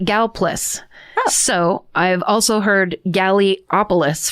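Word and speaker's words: Gallipolis: Local just locals just call it Galas.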